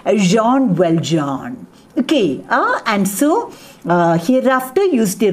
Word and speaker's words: Jean Valjean: But the French pronunciation, the right pronunciation is Jean Valjean. Hereafter use the right French pronunciation. Jean Valjean.